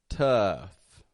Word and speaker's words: tough: another here how about the word tough tough there's a useful one eh tough t o u g H okay again we are seeing that o u g spelling here just like we saw in enough but that doesn't always mean it's going to be an uh sound for example in th